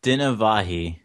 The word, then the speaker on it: Dinavahi: so today we have and could you pronounce your last name for me it's dinavahi um I usually don't bother when I'm like